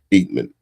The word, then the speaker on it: Eatmon: So the pron the correct pronunci is Eatman.